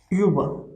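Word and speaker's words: über: See, Uber. Uber. Uber. Uber. Whenever er will come at the end of the word, then we are pronouncing it as er.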